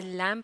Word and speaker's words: lamb: Loves लैम जो है इसमें लेटर बी साइलेंट होता है, इसे लैम पढ़ा जाता है।